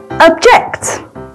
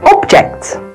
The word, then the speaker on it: object: The general rules for this special case are: as a noun, the stress usually falls on the first syllable. And as a verb, the stress usually falls on the second syllable.